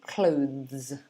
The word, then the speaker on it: clothes: guess um clothes clothes so you'll be doing the the sound which is when you put your tongue between your teeth the the the like that and then the s at the end is like a zeb so it's clothes clothes let me give you